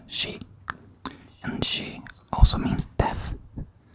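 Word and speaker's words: 四: cursed, because the number 4 in Japanese is pronounced she, and she also means death.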